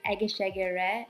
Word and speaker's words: Egészségedre: My favorite Hungarian word I learned, which I'm about to pronounce poorly, is Egészségedre, which means "cheers".